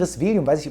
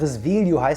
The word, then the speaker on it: Risveglio: By the way, since Risvum I have known that the G is not spoken in Italian - that it is not called "Risveglio", but "Risvelio". And here it's not "La Voglia", but La Voglia D'Amare.